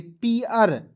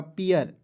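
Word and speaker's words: pear: तो पी का प लिखना है और इ ए आर है दोस्तों तो इसे पढ़ेंगे पीियर। ठीक है? तो इ ए आर है तो दोस्तों इसको क्या पढ़ते हैं? ई आर के रूप में उच्चारण करते हैं ना जी। जैसे इरकान हम लोग बचपन से पढ़ते आ रहे हैं। तो इसी का उच्चारण बस इसमें लगा दीजिएगा। हो जाएगा पीियर।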